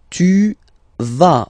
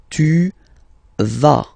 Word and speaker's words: vas: Tu vas. Final S doesn't exist. Tu vas. Tu vas.